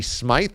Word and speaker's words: Smyth: Aren't they both pronounced Patty Smith? It's not like you're pronouncing it wrong. Unless it's Patty Smyth.